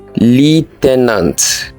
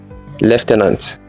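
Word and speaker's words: lieutenant: the Sharden frer number five how do you pronounce this do you say Le tenant it is wrong it is pronounced this way left n leftenant number six how do you pronounce this do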